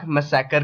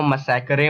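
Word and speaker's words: massacre: इसी को हम लोग जलियांवाला बाग मैसेकर के नाम से जानते हैं। अब गवारों, मैसेकर को मैसेकरे मत पढ़ लेना, वरना क्लास में भरी महफिल में बेइज्जती हो जाएगी। सो इसको मैसेकरे नहीं मैसेकर बोलते हैं।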